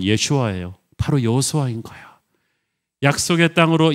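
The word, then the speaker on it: ישוע: 예수님의 이름을 아람어로 발음하면 예슈아예요.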